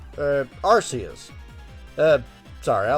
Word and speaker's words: Arceus: out on the switch recently it's called Legends archas uh Aras uh sorry I like archus better I pronounce a lot of Pokemon names wrong just